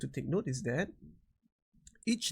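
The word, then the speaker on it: ث: Okay, when we say Tha, notice that my tongue is coming out. Tha, Tha, Tha. You cannot pronounce this letter as Sa. That's wrong. You have to dampen the S sound a bit.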